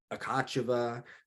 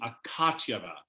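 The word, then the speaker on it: Akatyeva: I'm sorry I'm just I didn't realize I was pronouncing it wrong until I heard this broadcast where they kept saying akatyava because I always said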